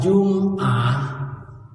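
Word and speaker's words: جمعة: al-ikqna beliau-beliau menjelaskan lafaz jumah mimnya dibaca sukun artinya hari ketujuh dalam satu minggu dimulai dari Sabtu Ahad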